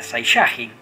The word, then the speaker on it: Saiyajin: Entonces, la lectura era Saiyajin, porque era la segunda sílaba contando desde atrás para que sea grave.